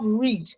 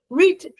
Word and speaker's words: read: You have read. Read becomes read, although it's in pronunciation that the tense or changes, but in the spelling, it still remains the same for read.